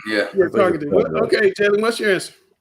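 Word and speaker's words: Tarkenton: That's how you pronounce it. Yeah, Tarkington. Yeah. Yeah, Tarkington.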